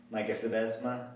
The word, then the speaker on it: Sebesma: One would be the middle blocker, Sebesma. Did I pronounce that correctly? You did. Okay, there we go.